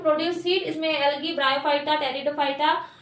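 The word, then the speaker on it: Pteridophyta: And second is टेरिडो। Phyta ठीक है P silent रहता है देन क्या बोलते हैं टेरिडोफाइटा ये हो गया हमारा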